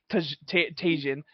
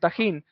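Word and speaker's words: Tajín: but I was like never call it tasan and she's like so is it so how do you pronounce it it's like tahin and she's like oh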